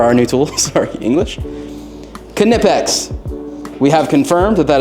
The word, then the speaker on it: Knipex: tools these are our new tools sorry English knipex we have confirmed that that is the proper pronunciation is it I think so I mean